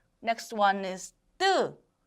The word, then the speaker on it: 뜨: Next one is 뜨, 뜨.